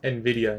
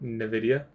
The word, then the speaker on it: Nvidia: It's pronounced Nvidia, not Nvidia.